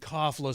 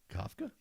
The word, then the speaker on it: Kafka: he's one of those guys be like, but didn't Kafla say? And I'm like, Kafka.